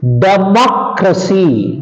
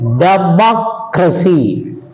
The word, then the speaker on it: democracy: sixth rule you see if we have words ending in c y t y p y g y Sy y stress goes on the anti penultimate syllable that means on the third syllable from the end from the last from the last for example you see democracy democracy hocy cinematography understand